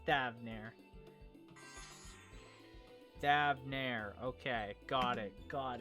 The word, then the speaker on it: Thavnair: We seek passage to Thanvera. What the fuck? Oh my god, I'm just stupid. I literally forget how it's pronounced already.